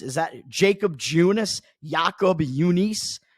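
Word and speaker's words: Jakob Junis: I mean, you got Jacob Junis. Is that Jacob Junis? Jacob Junis? Jacob Junis is how I pronounce his name.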